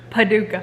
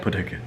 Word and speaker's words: Paducah: Yeah, you just want to say it like that? Paducah. Paducah. It's like a bazooka.